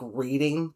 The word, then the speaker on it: Reading: Now, it is spelled like reading, but it's pronounced Reading, and I have this on good authority from my friends who live in Pennsylvania.